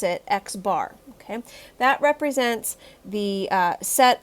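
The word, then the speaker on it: x̄: bar over top of it and we actually pronounce it x bar okay that represents the set of observations that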